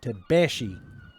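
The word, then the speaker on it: Tabaxi: get that right yeah the x is like a she tabashi so mr tabashi uh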